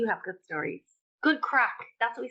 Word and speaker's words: craic: No, Wait, crack is spelled Craic, and it means fun.